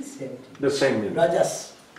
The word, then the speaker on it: Raja: The same as Raja. Like a Raja. Okay. Like a Raja. It is Raja. Raja. In Bengali sometimes they put O. Raja, Rajo. Or that is more Bengali pronunciation like that.